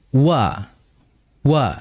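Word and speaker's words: و: dijelaskan dengan bindimam syafatain ya atau dengan bisa kita artikan yaitu dengan memonyongkan kedua bibir ya. Wa wa. Nah, kita perhatikan bibir ini akan monyong, bibir ini akan muncul ke depan.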